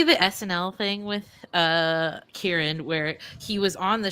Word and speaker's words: Kieran: there's a baby culkin oh it's kieran i've been saying it wrong well tina that shows